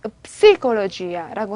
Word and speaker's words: psicologia: 뿌가 발음이 없기 때문에 psicologia라고 하는데 이런 단어들.